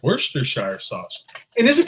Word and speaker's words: Worcestershire: Worcester is pronounced Worcester, so Worcestershire.